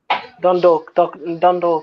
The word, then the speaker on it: Dundalk: You just say Dun and then dork. Dundalk.